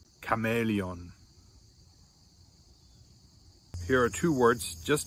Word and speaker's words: Chamäleon: best of my knowledge, are all pronounced with a hard K sound, just like the letter K, with a hard K sound. Here's some examples. For instance, we have character, chaos, chameleon.